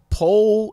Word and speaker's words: Pohl: I'm pronouncing it right you say pole as in P P OHL pole pole do you guys